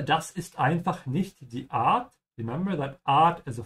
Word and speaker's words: Art: And also be careful with the sound of the A here. It doesn't sound like in English. In English, the A is a bit closed. You say Ort, yeah.